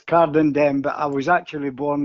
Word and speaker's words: Cardenden: Cordon-Dur, is that how you pronounce the area that you were born, Tommy? I was born, strangely enough, it comes under Cardenden. Got ya. It's Cardenden, but I was actually